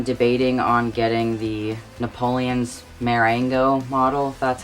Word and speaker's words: Marengo: affair and i'm debating on getting the napoleon marengo model that's how it's pronounced I want to try and get as